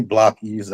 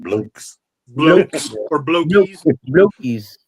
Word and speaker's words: Blockies: this too um and some people didn't know how to pronounce blockies it's actually really blockies I heard somebody call it bles BL ories yeah really block I ask